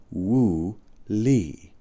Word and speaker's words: Wu Li: When I studied physics in Taiwan, said Huang, we called it Wu Li, pronounced Wu Li.